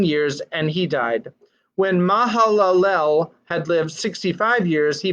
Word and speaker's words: Mahalalel: seventy years he fathered Mahalo Mahalo wait ma Hallel I missed a syllable Kenan that lived after he fathered Mahalalel eight hundred forty years